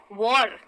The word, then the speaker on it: war: देखिए WAR है लेकिन कहते कैसे हैं, वॉर, वार्म।